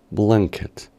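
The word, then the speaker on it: blanket: manta diremos palabra que para su correcta pronunciación después de la n agregaríamos un sonido tipo G blanquet ahora con la palabra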